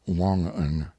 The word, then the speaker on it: Wangan: Note, Wangan, pronounced Wongan, here means the supplies furnished by Isaac and sold to his men at exorbitant profits.